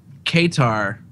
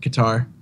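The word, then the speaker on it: Qatar: people yeah right um Kar I'm saying it wrong right qar yeah guar yeah they also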